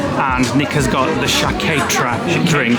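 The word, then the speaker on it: Sciacchetrà: should try it really shaketra that is the pronunciation of the wine shaketra wow look at the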